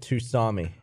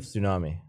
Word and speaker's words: tsunami: My English teacher pronounced it Tusami instead of Tsunami.